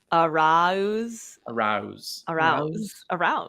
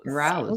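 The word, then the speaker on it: Araúz: I did look up how to pronounce Arouse's name, and I think that is how it is supposed to be pronounced. Arouse. Arouse.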